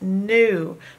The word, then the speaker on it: knew: would be canoe but you don't hear the K it's just pronounced new but the K is